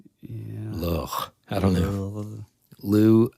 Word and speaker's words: Lugh: Lou, I'm just going to call him Lou. Okay. Yeah, Lou it is. Like Lou Diamond Phillips. There it is. Or Lou Gossett Jr.